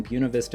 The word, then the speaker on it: Buena Vista: town of Buena Vista I know you think I said that wrong but I didn't say it wrong Buena Vista is how the locals say it and in the